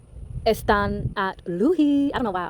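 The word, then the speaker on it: Asdzą́ą́ Nádleehé: And y'all's Earth Warrior is the turquoise changing woman, who in Navajo terms is the turquoise moon goddess and is pronounced Estan at Luhi.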